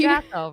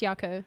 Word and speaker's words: Jocko: Jocko, right? Yeah, Yako, yeah. And he's just fantastic. Yako! And I'm saying it wrong this whole time. yes, darling, it's Yako. Like J is a Y.